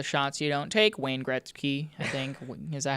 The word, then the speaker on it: Gretzky: Wayne Gretzky, I think. Is that how you say his name? Gretzky, yeah.